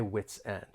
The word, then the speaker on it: wits end: more linking may occur we can link the final consonant sound in wits with the beginning vowel sound in N witsend I'm at my witsend I'm